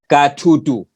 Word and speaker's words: katutu: So no, the second one, the correct pronunciation of insect, katutu. What we've written, Mr. Ban, in the chat, katutu. Katutu. So if you've seen, there's the deep T, then the light at the far end.